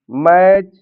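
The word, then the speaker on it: match: एक रूल और है, यदि टी के बाद सी एच आ जाता है तो टी साइलेंट होता है। जैसे वर्ड लिखा है बैच, कैच, मैच या वाच।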